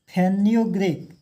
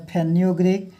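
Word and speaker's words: fenugreek: 7 number में फेन्यूग्रीक, मेथी का नाम सुने होंगे, इंग्लिश में कहते हैं फेन्यूग्रीक। स्पेलिंग होता है FENU, फेन्यू, ग्रीक GREEK, क्या हो गया? फेन्यूग्रीक हो गया, है ना।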